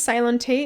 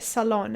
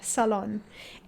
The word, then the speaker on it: Ceylon: i thought it was sale on t it's spelled c-e-y-l-o-n and i literally thought it was silent t but a salon as in pronounce it as s-u-h-l-o-n salon i am sorry if